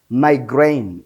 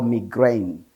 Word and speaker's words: migraine: Migraine or migraine. What is the meaning of migraine or migraine? Migraine or migraine, iri jambo rifite pronunciation ebyiri. Ushobora kumva umuntu avuze migraine cyangwa se akavuga migraine.